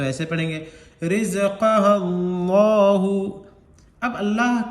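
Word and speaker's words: رزقها: रा जा, रा जा ज़ेर रिज, रा जा ज़ेर रिज, काफ ज़बर का, हा अलिफ ज़बर हा, रिज़क़हा, रिज़क़हा।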